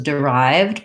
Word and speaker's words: derived: Berenice wants to know how to pronounce derived. So the solution was derived by. We have second syllable stress here.